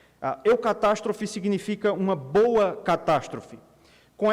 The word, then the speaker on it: eucatastrophe: criou um termo criou uma palavra que em português se pronuncia eucatastrophe eucatastrophe eucatastrophe significa uma boa catástrofe